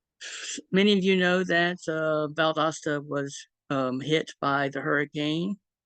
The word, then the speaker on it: Valdosta: of Library Science and a cataloguer at the Valdosta, if I'm pronouncing that correctly.